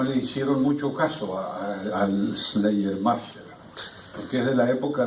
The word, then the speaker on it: Schleiermacher: Schleiermacher, que en alemán se pronuncia Schleiermacher, Sotrasmonschuvenbachen.